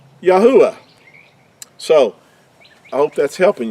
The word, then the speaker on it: Yahuah: So it gives us Yahu, first 3 letters, and the last letter would give us the ah. Yahuah would be how the Creator's name is pronounced. Now, this is a accurate transliteration with our definition that we've used, taking the Hebrew letters, what these 4 letters they would sound in Hebrew, and using English letters to give us the pronunciation of Yahuah.